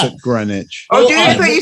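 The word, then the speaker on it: Greenwich: homage to Jimmy Jam and Terry Lewis we pronounce it grenwich so clearly we don't know anything we pronounce it grenwich Oh I thought you said green witch you I don't say green witch where I'm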